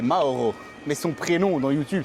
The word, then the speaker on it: Mauro: C'est Moro son prénom les gars. Son vrai prénom c'est Mauro.